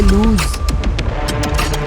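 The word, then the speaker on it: lose: अब दूसरा वर्ड है लूज जो कि एल ओ एस ई है। इसकी प्रोनाउंसिएशन लूज़ है और जो कि माइनिंग देता है फेल टू कीप या मिसप्लेस के।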